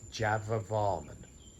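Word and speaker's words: Jayavarman: in my excitement i've mispronounced the king's name in this one it's java varman hello and welcome again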